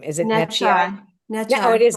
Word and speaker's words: Necciai: And then I heard Netch. I don't know what Netch. How do you say your last name? Is it Netchi? Netchai.